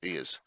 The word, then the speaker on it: Eos: I'm going to pronounce the way we pronounce it. Eos.